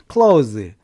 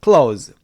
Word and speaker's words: clothes: 발음이 th지만 cloth 하실 필요도 그냥 clothes 그렇게 발음하시면 돼요. clothes.